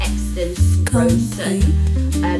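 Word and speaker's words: Xaden Riorson: Exton Rosen.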